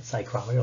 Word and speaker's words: psychrometer: But the sling psychrometer, spelled with a PSY, psychrometer, like psychology. So this is gonna be how you use a sling psychrometer to measure humidity.